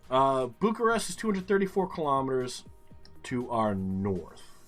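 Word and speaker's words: București: same direction could be bucharest is 234 excuse me this way and kia is up here whatever it could be um tulsia also bucharesti is how the they pronounce it here's 2c okay um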